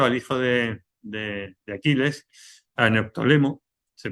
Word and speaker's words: Neoptólemo: allá y cogió al hijo de Aquiles, a Neoptólemo, se pronuncia así, ¿no? Neoptólemo, y le dijo, mira, vamos para allá y